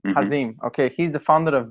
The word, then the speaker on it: Hazim: Am I pronouncing it right? Hazim. Hazim.